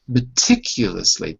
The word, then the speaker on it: meticulously: Listen again. Meticulously. There's a U in there.